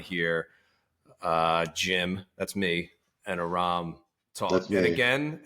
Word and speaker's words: Aram: Because it's like Aaron, but with an M.